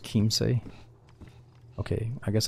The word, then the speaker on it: Chiemsee: Oh, it's pronounced Chiemsee.